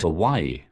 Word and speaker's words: Hawaii: I was born in Hawaii. You were born in Hawaii. That is overseas. You gotta be born in America to be president, boy. It is pronounced Hawaii.